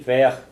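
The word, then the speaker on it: bheadh: The DH on this word is pronounced like a ch sound, as if it was a CH.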